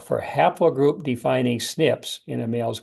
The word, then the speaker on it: SNP: that Mark the branches are abbreviated SNP and pronounced snip we call those branches